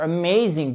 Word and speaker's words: amazing: Non, on va dire amazing. Pourquoi? Ah, on a vu. Ouh, ça c'est l'accent tonique. Donc ça, c'est la syllabe accentuée.